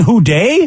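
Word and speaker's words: Who Dey: Oh, well, and he's saying Who Day? Yep. Yeah, it's a Bengals thing. Yeah, and Day is spelled Dey.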